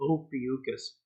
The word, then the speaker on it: Ophiuchus: 10 years old, I never knew how to pronounce his name, but you'd call him Ophiuchus. Ophiuchus was a son of Apollo, the sun god.